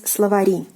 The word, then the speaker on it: словари: the plural, it is словари. So it falls on the last syllable.